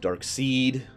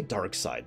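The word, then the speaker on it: Darkseid: I have to admit I've never liked darksied because that's how I pronounce it they say dark side that actually aggravated me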